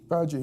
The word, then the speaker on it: Paji: Paji, yeah.